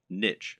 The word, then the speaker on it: niche: Or to use the correct internet business parlance, what is your niche or niche as some people pronounce it?